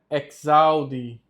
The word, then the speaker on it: exaudi: Christe exaudi. Aqui, perceba que o X, ele no latim, ele tem som de KS. Então a pronúncia fica dessa forma aqui.